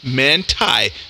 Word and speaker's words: Manti: here qth is in Sterling manty pronounced mantai see there that's what